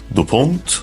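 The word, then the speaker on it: DuPont: ثانيه شركه دوبون هي اسمها كده بالانجليزي تتنطق اعتقد دوبونت شركه دوبون دي مش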